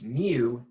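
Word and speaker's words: μ: Sub 2 which is Mu n very easy to get confused with new like NE ew and mu mu I'm trying to carefully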